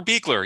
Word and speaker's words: Beischler: But with that said, with that out of the way, today's speaker is going to be Beischler. Beikler. Beekler. It makes no sense phonetically. Okay. Beekler.